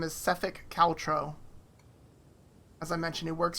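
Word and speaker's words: Sephek Kaltro: headed who are looking for his name is sefik caltro as I mentioned it works for the small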